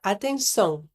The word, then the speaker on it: atenção: Pense no som do N. O som nasal é produzido deixando o ar passar pelo nariz. Uma boa forma de praticar é pensar no som do N em inglês, mas sem realmente pronunciar a letra N no final.